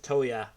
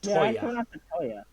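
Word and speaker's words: 燈矢: be pronounced because i in my head i pronounce it toya um english dub pronounced toyah it's pronounced toya oh yeah as i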